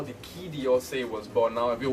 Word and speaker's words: Quai d'Orsay: on a collaboration and that was how the key d'Orsay was born now if you're wondering what key do se means and by the way that's how it's pronounced if you're wondering what it means as